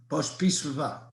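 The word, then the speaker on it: Pospíšilová: First, how do you pronounce Julie's last name? Pospislava.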